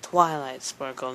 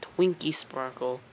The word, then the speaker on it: Twilight Sprinkle: But yeah, that's not how you pronounce my name, by the way. It's Twilight Sprinkle, not Twinkie Sprinkle.